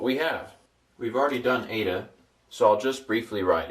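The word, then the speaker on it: ἦτα: It's an ada and it's pronounced a as in eight.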